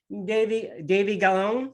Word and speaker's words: Davy Gallon: And this time I am talking to Bellator fighter Davy Gallon. Is that how you pronounce?